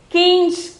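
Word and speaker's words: खींच: one the next one eleventh one is kinch okay the pronunciation is kings the meaning is full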